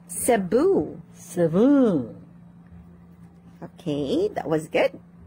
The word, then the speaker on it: Cebu: practice some of the words you mispronounced okay yes okay please repeat after me lily hello mr lee yes just repeat after me lily one more time lily okay that's better cebu cebu again please cebu cebu okay that